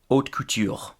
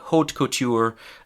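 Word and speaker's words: haute couture: The first word in this category is hot cou. That's the French pronunciation. In English, we'd probably just say hot couture.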